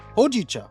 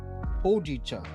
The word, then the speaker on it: hojicha: Hojicha. That's how you say it. I like how the pronunciation has but hojicha.